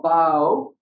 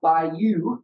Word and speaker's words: bayou: a battle called Chickasaw Bayou. It's not Bayou, it's Bayou. You got to say it right. You got to redneck it up when you say it. Everything down there is bayous, not bayous.